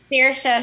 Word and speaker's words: Saoirse: Yeah, how do you pronounce it? Saoirse. Sorry? Saoirse Shanae.